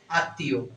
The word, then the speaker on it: আত্মীয়: শ্মশান স্মরণ ঠিক আছে আত্মীয় ক্ষেত্রে মফাটা থাকার কারণে এই তটা কি হবে দুইবার উচ্চারণ হবে আত্মীয় ঠিক আছে তাহলে এখানে